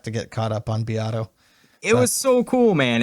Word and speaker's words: Beato: I love Is that Rick how you pronounce his Beato.